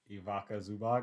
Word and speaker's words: Ivica Zubac: You know, Nocic is not going to stop for I don't know how to pronounce his name. Ivica Zubac.